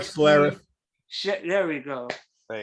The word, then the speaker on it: Schlereth: Mark Shoutref. Doesn't matter. Doesn't matter. Mark I Schlereth. don't know. His name is spelled SCH. Mark Schlereth.